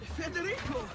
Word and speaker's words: Federico: Federico, what are you doing here? Federico. Okay, so that's how you pronounce that name.